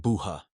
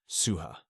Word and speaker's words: Suha: Theo takes a wild guess, hesitatingly saying Buha, clearly unsure of his memory. Suha corrects him, introducing herself properly as Suha.